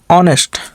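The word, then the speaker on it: honest: इसको भी ऑनेस्ट नहीं पढ़ेंगे। यहां यहां भी जो है एच साइलेंट है। ऑनेस्ट यानी ओ से शुरू करेंगे। पढ़ना। ऑनेस्ट ऑनेस्ट ये भी स्वर से शुरू हो रहा है।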